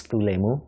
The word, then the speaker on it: Thu Lai Mu: can you please tell us your name and spell it out for us um my name is tulemo t-h-u-l-a-i-m-u thank you well um first of all